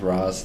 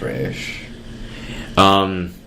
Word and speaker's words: Ra's: Wonder why they went with Roz in that movie, if it's always been pronounced Raish.